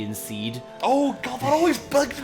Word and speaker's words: SeeD: prompt people to ask, is it pronounced seed or CD? It's like, it's obviously seed because the seed's in a garden.